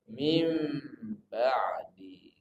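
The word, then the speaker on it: مِنْ بَعْدِ: Tetap min ba'di, tapi bacanya mim ba'di.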